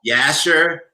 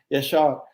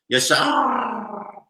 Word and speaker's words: Yashar: Yasher, Mehdi. Yashar. It's you just gotta roll your R just a little bit. Yashar.